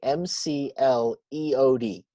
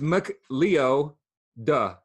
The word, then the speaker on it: McLeod: one a real quick McLeod is spelled MCL e OD not like a cloud like that's in the sky MC l EO d it's Muk leo duh yeah mcli ode pronounced McLeod McLeod is I you know